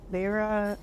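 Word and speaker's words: Lehrer: that you did on the the the Brian Lera, how do I pronounce Brian Lair?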